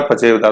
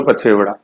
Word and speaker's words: पछेवड़ा: मोटा सूती साल, पछेवड़ा या पचेवदा, है ना, ये अपने जो अभ्रंश है उस रूप में मिलता है पचेवदा, तो पचेवदा का दीर्घ होगा पछेवड़ा, ऐसे प्रोनाउंसिएशन पकड़ना है।